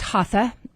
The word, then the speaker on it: Hatha: mental processing Etc um so I think it's pronounced haa and it is a